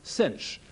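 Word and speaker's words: sinh: and that's written s-i-n with an h-hyperbolic sign pronounced cinch in other words cosh t is the x coordinate of p sinch t is the y coordinate of p and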